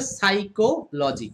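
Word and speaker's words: psychology: বাট এটাসার হবে হচ্ছেসারটা হবে সাইকোলজি। এই যে মানে কিছু শব্দ রয়েছে যে শব্দগুলোর সামনে পি এর উচ্চারণটা লাগে না।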